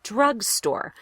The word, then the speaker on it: drugstore: drugstore drugstore drugstore good drugstore is a compound word so you're going to stress both syllables pretty equally drugstore that doesn't happen in